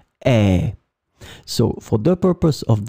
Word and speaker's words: et: It will be pronounced e, and it means and.